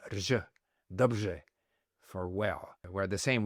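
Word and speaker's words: dobře: So in Czech, for example, the R-E is pronounced rj, dobrze, for well, where the same word in Polish is pronounced dobrze.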